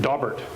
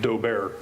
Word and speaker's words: Daubert: Daubert standard in 1930 dobbert standard in 1933 often mispronounced dough bear but before 1993 it